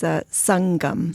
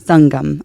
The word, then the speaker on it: Sangam: So today I have Sangam, and did I pronounce that right? No, you pronounce it for me. Okay. It's Sangam. Sangam. Okay. Yeah, perfect.